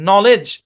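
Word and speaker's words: knowledge: বলা যায় জানা আর কি জানা এখানে কেটা সাইলেন্ট নলেজ শব্দের মধ্যে কেটা সাইলেন্ট শব্দের শুরুতে কে এন আছে বুঝছেন অরজিনালি নলেজ হয় এখানে ই এর সাউন্ড আ শর্ট সাউন্ড হয় কিন্তু অরজিনালটা দরকার নাই নলেজই পড়বেন ওকে তারপর দেখি যেসব জায়গায় এল উচ্চারিত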